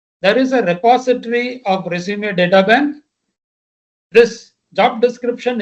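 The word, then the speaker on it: résumé: What is a resume? What is a resume? You pronunciation wise, it's called resume, which is a French word, Latinized French word that says, I introduce myself professionally.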